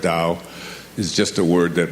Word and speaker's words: Dao: as I've been researching aism which is spelled t AO i m t o the da the word Dao is just a word